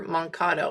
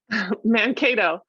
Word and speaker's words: Mankato: Why are we thinking Little House on the Prairie when you hear Mankato? And am I saying it right or wrong? Mankato. So Mankato.